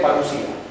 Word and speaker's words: parousia: Una es parucía, que se escribe parousia, pero que se lee parucía.